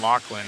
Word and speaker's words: Lachlan: calling his nickname and they were like that's not how you say it it's Lachlan it's like yeah I understand